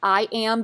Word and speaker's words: AYAM: This product line is actually pronounced I Am, but you're going to hear me actually spell it out in the next few